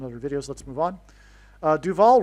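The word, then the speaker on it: Duvall: Duval rhymes with Hall.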